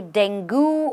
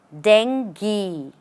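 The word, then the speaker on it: dengue: do you pronounce this just because of the U over here people usually say denu or denu but the right pronunciation is Deni dangi and let's look at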